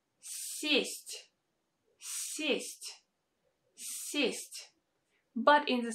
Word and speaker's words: сесть: A quick disclaimer, in the next video I will show you when exactly these vowels are pronounced without this sound y. Now let's practice. Look at these two words. Сесть, to sit down, сесть, and съесть, съесть, to eat.